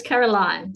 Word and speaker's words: Caroline: It's Caroline. So that's the way it's spelled.